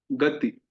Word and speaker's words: गीत: गति। फिर दीर्घ में गीत। ध्यान से सुनिए, हम इसको थोड़ा खींच रहे हैं।